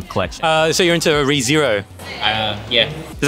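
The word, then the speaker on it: Re:Zero: this massive Ram collection uh so you're into rezero uh yeah does that how you say it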